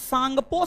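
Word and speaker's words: Tsangpo: trans Himalaya को बहद हिमालय से अलग आईटीएस जेड आईटीएस Z full form होता है Indus सांगपो Sachar John T silent है टी साइलेंट है इंडस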